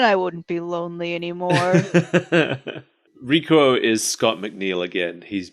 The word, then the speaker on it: Rikuo: Wait, is it Rikuo or Rico? I've written both. It's Rikuo. Okay.